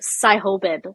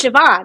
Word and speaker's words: Siobhan: Siobhan, what's that B doing in there? That's crazy. Who? You know the name Siobhan? It's like phonetically, it looks like Sihobid. And that's Siobhan? It's Siobhan. It's an Irish name.